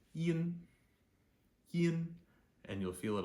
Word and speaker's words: yin: and squish it so it becomes Yin you'll hear it it feels kind of very quick and kind of clippy Yin okay now we